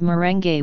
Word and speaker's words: merengue: the Spanish influence but they are called merengue with all the vowels pronounced leche flan is a type